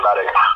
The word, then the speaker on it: emetic: It's Emetic.